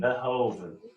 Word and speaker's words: Verhoeven: Verhoeven. I think it's because I want to say Hulk Hogan, but not Hogan.